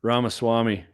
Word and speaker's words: Ramaswamy: I don't even know how to pronounce his last name. Ramaswamy.